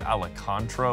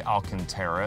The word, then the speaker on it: Alcantara: I actually used to call it Alicantara, which like makes no sense at all because that's not even how it's spelled. But we'll say Alcantara in the headliner, which